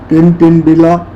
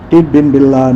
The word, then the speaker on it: Tidbinbilla: easy okay my friend so how do you pronounce it uh Tintin Villa no no no it's wrong okay two more